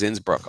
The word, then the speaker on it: Innsbruck: with Austria Innsbruck that's not a Brunswick it's Innsbruck Austria nope I went bowling today it's in